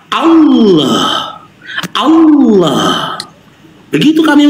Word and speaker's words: Allah: Ya, huruf ha ini makhrajul hurufnya alhalqi bagian bawah sama dengan alif. Dan sifatnya ini adalah rakah mengalirnya suara. Allah.